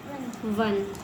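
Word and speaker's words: one: अब देख लो ओ एन को हम पढ़ रहे हैं ऑन लेकिन ओ एन इ लगा दिया मैंने तो इसको क्या पढ़ेंगे हम वन मतलब क्या चीज का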